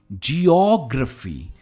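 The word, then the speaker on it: geography: का सबसे पहला ज्योग्राफी कहेंगे नहीं इससे हम कहते हैं ज्योग्राफी क्योंकि स्ट्रेस ओपन है तो हम यहां पर स्ट्रेस करेंगे तो यह हो जाता है ज्योग्राफी एंड नॉट ज्योग्राफी हम पहनते हैं ज्वैलरी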